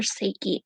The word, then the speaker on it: Saake: double a k e pronounce like say what comes out of your mouth and key what opens a lock um i am going